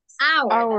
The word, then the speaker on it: hour: Hour. And how do you say caballo in English? Horse. ¿Se fijan que la H suena distinta? Yes or no? Yes. Hora, hour. Caballo, horse.